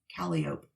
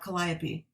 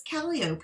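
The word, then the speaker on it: Calliope: this they have a street that is called calop not copy is it actually pronounced that yes what I was like oh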